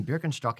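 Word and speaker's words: Birkenstock: you're going to wear berkenstock sandals berkenstock and brogs or or or Birkin stocks for you Americans um the uh I'm not kidding beer con struck is how you say it okay um f very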